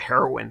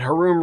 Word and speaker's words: Haroon: as well yeah also my last name uh Haroon they call it heroin sometimes yeah but her room rhymes with baboon now you'll never forget